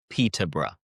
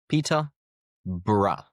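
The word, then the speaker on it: Peterborough: He is actually from Peterbr. Peter, bruh. So, just think bruh. That is the message that you have to remember.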